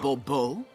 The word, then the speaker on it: Bourbeau: The emphasis falls on the last syllable. Bourbeau.